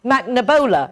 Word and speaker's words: McNabola: We talked about 1,000 times how to say it. McNabola. Is that right, Grace? Yeah.